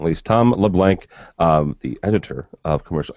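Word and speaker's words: LeBlanc: as well and that's leblan with a c not a k yeah no absolutely no K I'm just making sure that with the first time I think I was mispronouncing your name too for the longest time leave it up to interpretation exactly uh it's French there's an L there's a l in front of it so um my name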